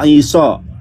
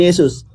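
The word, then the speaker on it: Ἰησοῦ: Yunani sendiri bacanya Iso Pak, bukan Yesus. Biblos Genesios Iso. Tuh Pak, ini tulisannya Iso. Jadi namanya itu Iso, bukan Yesus.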